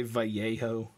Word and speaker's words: Vallejo: paint is identical and they are vallejo or some people say vallejo i've heard that i'm american i just pronounced the letters in order ignorance is bliss all